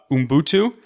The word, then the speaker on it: Ubuntu: So a word that I see you and your social media accounts use a lot, Ubuntu. Is that pronounced correctly?